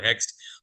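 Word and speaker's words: Hoechst: So of course it is very difficult whether it's Hext or Hext, but the correct pronunciation is Hext Pakistan Limited.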